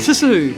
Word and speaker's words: Tszyu: Can you spell Tim Tszyu?